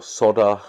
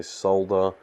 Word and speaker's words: solder: sobering isn't really necessary or solder as americans would say but we australian say solder solder is actually correct so we actually say it wrong yeah i know most